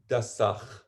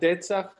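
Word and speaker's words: דצך: Let's go back now to the word dasach. Okay. What does that word mean as a word? Because the word itself has meaning. So what does the Is that word how mean? it's pronounced? Datsach?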